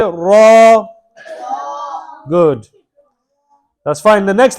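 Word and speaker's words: ر: Allah next well okay raw correct letter okay and it's pronounced from The Edge and the top part of the tongue touching the gums of the top four front teeth so if you go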